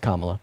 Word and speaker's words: Kamala: Her name is pronounced Kamala.